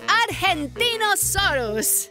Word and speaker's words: Argentinosaurus: Deo I'm the Argentinosaurus wao that that is a big name for a big Dino I have to break it up to say it right R gen teen o s us that's me so I'm